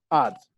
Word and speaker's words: adze: mallets, 2 saws, and an I can never pronounce this. Adze? A-D-Z-E? Odds.